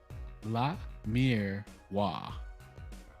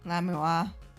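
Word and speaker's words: Lamiroir: it what is it it is La Mir wa hola mua because yeah that last part is yeah that makes sense La MUA I I'm so thrown for a loop for that yeah because French true damn she's French because because the lettuce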